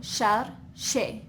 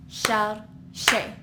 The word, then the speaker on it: chercher: For example, here, chercher, which means looking, you would go chercher, 2 syllables. Or you can clap your hands, chercher. That's another strategy that might work for you.